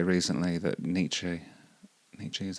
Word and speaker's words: Nietzsche: I saw Jimmy Carr say recently that Nietzsche is how you say it, he had a good line on resentment.